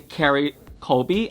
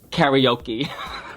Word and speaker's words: Kerri Colby: Instead of saying Kerri Colby, I said karaoke.